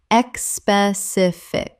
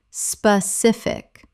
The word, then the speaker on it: specific: Common mispronunciation, expecific. Correct pronunciation, specific. Three syllables. There is no e at the start. It begins with s p not e s p.